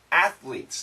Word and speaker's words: athletes: Now, a lot of Americans say athletes, athletes. But actually the pronunciation, athletes, athletes. Keep this S, athletes from, athletes from. So the quicker we say it, it sounds like lease, lease, lease. So L-E-A-S-E, something like that.